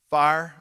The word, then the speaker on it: fire: Fire, by the way, please say that one syllable if you would, fire.